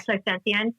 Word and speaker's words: clairsentient: Yeah, clairsentient.